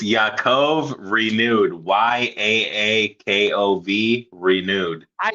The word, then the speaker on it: Yakov: I say it I say it right, but but I always put a a at the end of it for some reason. I say Yakov and it's just Yakov.